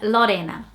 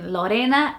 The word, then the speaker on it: Lorenna: actually my middle name, and it's the name Lorenna.